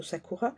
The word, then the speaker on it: Sakura: La carte du Satur du Sakura Sakura je le prononcerai plutôt Sakura est illustré par un cré cerisier à fleurs du Japon.